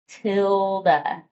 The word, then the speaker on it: tilde: And I'm going to kind of highlight that and label to help us remember this is called a tilde, pronounced like Matilda. Tilde.